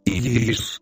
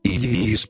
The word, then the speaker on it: Isis: Se pronuncia este mantra alargando el sonido de cada una de las cuatro letras que lo componen, Isis, Isis, punto repartido en dos sílabas Isis.